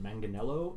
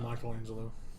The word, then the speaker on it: Manganiello: on the show Joe I'm gonna pronounce it Manganiello I believe the guy that was cast to play Deathstroke in the DCU I always said Michelangelo yeah you always do